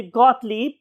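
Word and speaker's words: Gottlieb: तो इट is basically गॉटलीब, leap, दो ये आएंगी इसमें, गॉटलीब।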